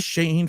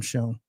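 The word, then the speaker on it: Schoen: The Shane family would be because I'm not calling him Shone. He should be shown because that's how you fucking spell it.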